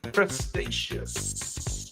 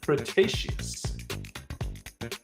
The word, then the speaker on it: Cretaceous: this prehistoric flying reptile lived during the late pretious Cretaceous I'm sorry I don't didn't say that properly Cretaceous it was not a dinosaur but a type